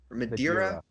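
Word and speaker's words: Madeira: to Google it aha what is is it Madera is that how it's pronounced madira madira yeah well it's a Portuguese Island that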